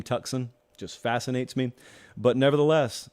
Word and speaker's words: Tucson: He is from Tucson, Arizona. Fascinates me that we don't pronounce that name Tucson.